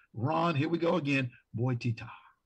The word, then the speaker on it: Bottitta: here we go again, Bottitta. Did I say it right? Well, it's close. It's a lot closer than a lot of people get. It's actually Bottitta.